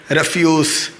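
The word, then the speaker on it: refuse: First one इज़ a verb, it is pronounced रिफ्यूज़। रिफ्यूज़ verb के तौर पे अगर ये वर्ड आता है तो हम इसको रिफ्यूज़ पढ़ते हैं, इनकार करना। रिफ्यूज़, जेड की साउंड है, रिफ्यूज़, इनकार करना।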